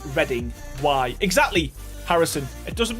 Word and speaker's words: Reading: one the word reading if it's a place it's pronounced reading why exactly Harrison it